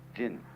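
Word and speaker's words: 仁: How do you pronounce that in Japanese? Jin.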